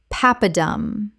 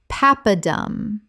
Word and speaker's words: papadum: Papadum. Common mispronunciation. Pap-a-dum. Correct pronunciation. Papadum. Three syllables with the stress on the first. From Tamil.